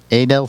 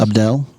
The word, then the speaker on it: Abdel: According to Southern Draw, the somewhat unusual name came about while Adel Fernandez? Abdel. Abdel? Holy shit, you did not just say that. I got his name wrong. AJ Fernandez's name's Abdel. I didn't know that.